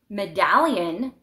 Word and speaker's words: medallion: of metal um so if you want to say medallion the accent is on the second syllable Medallion so you have to add another L but if you say